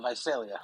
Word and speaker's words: Visalia: don't we go from donny from is it pronounced visalia visalia it's visalia visalia what state is that in it's in